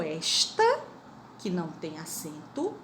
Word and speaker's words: esta: lembrar que existe o esta, que não tem acento, e o está, que tem acento. Olha a diferença da pronúncia. Esta e está. Quando não tem acento é esta, quando tem acento é está.